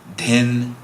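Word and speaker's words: dhin: And if you hear a little breathiness, there's that aspirant syllable that we have from Sanskrit-based languages. So in English, we usually write D-H-A, D-H-I-N for da and din.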